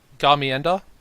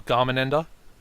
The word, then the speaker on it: Garmendia: The first off, this guy, Garmienda, or Garmendia. Alright, I've got to get my pronunciations right.